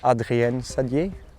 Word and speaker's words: Adrien Saddier: This is Adrien Saddier. You know, tell the name in English. I think in French it's Adrien Saddier. So that's a bit better pronunciation, isn't it?